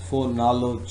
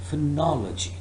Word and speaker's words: phonology: using the sound or but they use the sound R and then after L instead of using the sound up they use the sound o that makes for knowledge G but the correct pronunciation of this word is phonology this is what we're